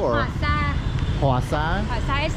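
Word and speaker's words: Hỏa xa: I know the cafe, but how would you pronounce that? Ho or Hoa Sa. Hoa Sa? Hoa Sa is like train.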